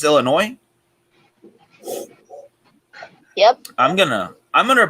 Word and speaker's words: Illinois: being there like the s is silent in illinois so it's just illinois yep i'm gonna i'm